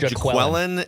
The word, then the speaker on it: Jaquelin: Dex, it's either I always call Jacqueline. Jacqueline. I've heard Jaqueline and I've heard Jacqueline.